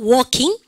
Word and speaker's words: walking: 요 발음에서 여러분들이가 L이 뭐다? 묵음이에요. 발음이 되지 않는다라고 얘기합니다.